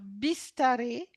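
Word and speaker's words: बिस्तारै: Alors, bistaré, bistaré c'est lentement. Bistaré, ça s'écrit B I S T A A R A I.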